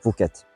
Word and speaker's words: Phuket: Et son nom actuel est la prononciation thaï d'un mot malais, du mot Bukit qui signifie colline, montagne.